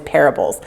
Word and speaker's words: parable: he called those stories parables. Can you say parable? There are 3 syllables. Ready? Parable. Parable. It rhymes with terrible.